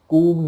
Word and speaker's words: comb: ठीक, लेकिन स्पेलिंग क्या है, COMB, तो आपको बी नहीं बोलना है। आपने सुना होगा बहुत सारे लोग बोलते हैं कोम्ब योर हेयर। ठीक, तो कोम्ब नहीं, कूम योर हेयर।